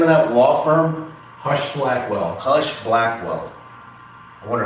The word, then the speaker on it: Husch Blackwell: Hush Blackwell. Hush Blackwell. I wonder how many pedophiles they've defended. That'd be an interesting. Think about that. They have to, that's why it's called Hush Blackwell, right?